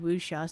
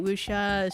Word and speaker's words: wuxia: Is it one of those Chinese, how are they called, wuxia stories? Yeah. It's basically a wuxia story. Yeah. Wuxia is spelled like W-U-X-I-A.